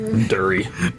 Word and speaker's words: Derry: Emma can't get dairy, and it's spelled DERRY. Dury.